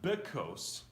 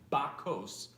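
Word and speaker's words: בַּכּוֹס: - uh ah sound so it's not bit coasts which would be in a cup but it's Bach coasts which means in Dhaka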